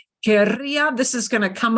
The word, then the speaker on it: querría: But do notice that querría with a strong trill, querría is not the same as quería. So here's the one little again, a caveat. Here, this is a pronunciation thing. Quería with a little trill. Quería, I wanted, past. But look, querría is conditional, strong trill. So that does make a difference.